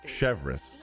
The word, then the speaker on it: Chevreuse: Chevreuse, that's how you say it.